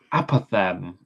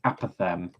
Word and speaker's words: apothem: I'm saying pronunciation correct. And now uh apothem apaththem. All right. Source one says apethem.